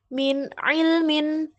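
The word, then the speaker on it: مِنْ عِلْمٍ: Jadi dibaca jelas, bacanya min ilmin dan alimun hakim.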